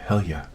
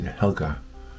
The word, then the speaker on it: Helga: name by the way My grandmother used to pronounce my mother's name Helia she would say Helia and of course we spoke it as Helga but yeah that's nice